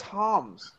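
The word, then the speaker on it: Hamm's: But they're still, bring on the hams. Bring on the hams. If you went, baby hams, woo! Isn't it? I'm pretty sure it's Hams. It's Hams.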